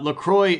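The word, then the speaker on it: LaCroix: I say Laqua. Uh, Lacroy is actually the uh the company's preferred pronunciation.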